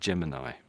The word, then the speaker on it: Gemini: So I don't know which way to say it, but stick with the way that you said it, because you said Gemini. That's the British way, I suggest.